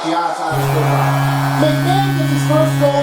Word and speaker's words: Giannis Antetokounmpo: And you can't just really just try to say it, just like Giannis Antetokounmpo.